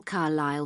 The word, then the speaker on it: Carlisle: way could you spell carlisle for me sorry it's c a r l i s l e you don't pronounce the s carlisle way and that's